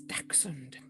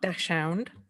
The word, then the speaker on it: dachshund: pronounce so wrong it's dachshund well in england it is anyway not dash hound uh or it can